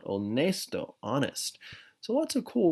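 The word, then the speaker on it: honesto: generous all nice though remember the H is silent onest Oh honest so lots of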